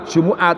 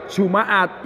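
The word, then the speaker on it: جُمُعَة: Jadi kalau mimnya dibaca doma Jumu'at, itu lughatnya Hijaz. Orang Hijaz masuk Mekah Madinah, itu bacanya Jumu'at. Jumu'at lughatul Hijaz. Kalau dibaca Jumaat, yang mimnya di fathah, itu lughatnya Tamim. Jadi di Arab ada semuanya suku Tamim. Itu kalau membaca Jumaat.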